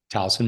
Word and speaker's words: Towson: Kelley Thornton was born in Towson. Is that how you pronounce it? Towson, Maryland? Towson, Maryland.